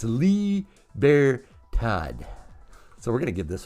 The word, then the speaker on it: Libertad: lee bear todd wrong it's a liebertodd not libertad i don't speak the spanish sorry dude but he straightened me out so i got it's lee bear todd so we're gonna give